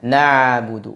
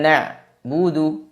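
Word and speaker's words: نعبد: sifat tawasud atau bainiah jadi diingat suara pada pengucapan huruf Ain dialirkan sebagian tidak ditahan semuanya tidak dibaca na Budu seperti huruf hamzah tapi dibaca nabudu dialirkan sebagiannya dan sebagainya lagi ditahan di makhrajnya kesalahan yang ketiga yaitu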